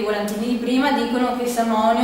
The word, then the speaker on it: Samhain: Sì, però c'è anche una festa del 1° novembre di Samhain, scritto Samhain, come si legge Samhain, che significa la fine dell'estate ed è considerato capodanno celtico.